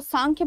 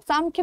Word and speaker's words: सांख्य: दोनों वो सही है इसको सांख्य भी प्रोनाउंस कर सकते हो आप लोग सांख्य भी बट दोनों एक ही चीज है चाहे वो एम